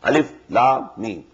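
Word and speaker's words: الم: These are pronounced separately, and so they are the broken into pieces. Not pronounced as Alif Lam Mim Alam, no. Alif Lam Mim.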